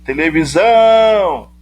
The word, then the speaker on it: televisão: Quando eu chamo televisão, o zão fica mais intenso para mim. Eu me demoro mais ao pronunciar a sílaba zão. Televisão! Porque ela é a sílaba tônica, a sílaba de maior intensidade.